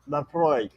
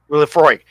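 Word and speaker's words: Laphroaig: I cannot pronounce it. It's Laphroi. Lafroy. Lafroy.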